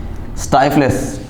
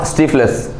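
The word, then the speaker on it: stifles: Next है हमारा स्टाइफलेस, स्टाइफलेस, इट्स नॉट स्टीफलेस। अगर स्पेलिंग में STI लिखा है तो ये ज़रूरी तो नहीं कि हर बार वो STI ST का साउंड दे या हर बार वो STI ST का साउंड दे।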